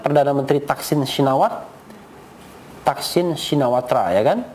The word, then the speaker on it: Shinawatra: Thaksin Shinawatra, ya kan? Tapi bacanya Thaksin Shinawat. Nah, begitu ya. Bacanya Shinawat. Tra-nya nggak dibaca.